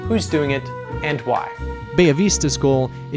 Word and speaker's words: Bella Vista: Finca Bellavista forebay Avista as it's pronounced in spanish they're quite different from thinking Ellen Huerta which I featured in our last episode Alan huerto only produces and Mills their own coffee Bay Avista produces their own coffee